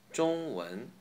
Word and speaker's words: 中文: Example, again, 中文, 中文, Chinese. By the way, the ZH Z here says the same as D in dream. Z, Z. Zhong, Zhong. Okay?